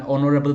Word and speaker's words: honorable: and an honorable person an honorable person here again is silent honorable person that's why